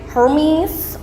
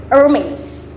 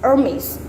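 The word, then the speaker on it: Hermès: people might call it hermes or hermes but no you because it's a french so you want to spell you want to pronounce it in french so hermes hermes ate the age kind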